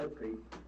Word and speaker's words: Utley: So the top three guys on Arkansas's defensive line, Trey Williams, John Ridgway, and Marcus Utley, I never did pronounce his name right, it's Utley.